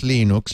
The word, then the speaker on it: Linux: runs l l Linux wait a minute it's pronounced Linux hello my name is l is toal and I pronounce lenux lenux lenux it runs